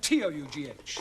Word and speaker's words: tough: Now, Ranjit, how do you pronounce the following? B-O-U-G-H, C-O-U-G-H, and T-O-U-G-H.